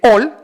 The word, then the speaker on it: ol: Pero si los mayas le ponían la sílaba la, significaba que tenía que leerse ol, y quiere decir corazón.